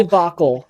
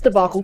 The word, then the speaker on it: debacle: Debbacle. It's debacle.